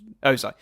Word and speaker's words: Ozai: Pronounce it right. Ozai.